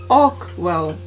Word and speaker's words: Archewell: new charitable foundation called Archewell, or as it should be called, Arkwell, or should be pronounced.